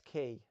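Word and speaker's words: Qui: wan's hanging up in his oh yeah it's key when uh when anakin says come on r2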